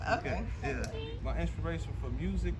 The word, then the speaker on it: Phuket: a chance to go to Thailand, go to Phuket, mm-hmm. and that's probably where I want to retire. So wait, it's pronounced Phuket? because I thought it was funny. It's Phuket. Okay, it's not. Yeah, it's Phuket.